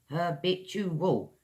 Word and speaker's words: habitual: Last one I've got for you guys is Habitual her bet you will four syllables.